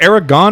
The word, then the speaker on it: Aragorn: Is it Aragon or Aragorn? It's spelled Aragorn, but everyone says Arag. Like if you watch Yeah. the movies, it sounds like everyone says Aragon. Yeah. Like it's a silent R.